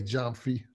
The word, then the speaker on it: Jomfy: It's with a J, Jomfy.